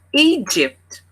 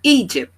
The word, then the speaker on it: Egypt: London aqui estava em egt a primeira sílaba que é a forte tá egt então fica como a